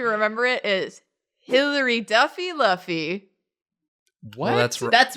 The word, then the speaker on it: Luffy: I don't know why you said that like you're uncertain when we've said it's pronounced Luffy at least 1 trillion times since I In this mispronounced episode.